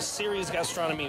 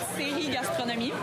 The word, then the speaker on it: série gastronomie: And you have a series gastronomy. Sorry if I butchered the term cities gastronomy. Well, in French, it's série gastronomie. Like she said.